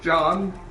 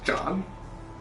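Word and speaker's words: Jann: It's spelled J-A-N-N, so John. John.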